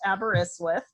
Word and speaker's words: Aberystwyth: earth is and I can tell you it's pronounced Aberystwyth which is a beautiful University on the coast